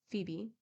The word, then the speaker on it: Phoebe: and the other Venus for these read Phoebe F IBI and venos that we may conform to English pronunciation Phoebe cooked Venus scrubbed